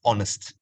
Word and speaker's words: honest: to memorize is that honest for this word h is silent you realize you pronounce it as honest as if the H